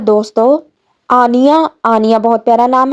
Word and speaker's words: Anya: अगला नाम है दोस्तों आनिया। आनिया बहुत प्यारा नाम है। आनिया का स्पेलिंग ANYA।